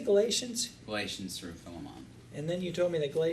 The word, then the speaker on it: Philemon: So Galatians to Philemon. From Galatians. Huh? Thank you for pronouncing Philemon correctly.